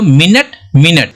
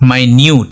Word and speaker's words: minute: तो मिनट मिनट नहीं, ऐसा नहीं है, इसको बोलते हैं माइन्यूट, ओके। इसका प्रोनाउंसिएशन बदल गया लेकिन स्पेलिंग सेम है।